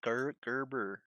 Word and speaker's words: Gerber: I think it's pronounced with the G. Gerber.